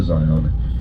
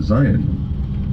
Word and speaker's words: Zion: that are close to Zion don't use the A sound in the pronunciation of Zion. They don't. They call it Zion, like Zi or um just Zion.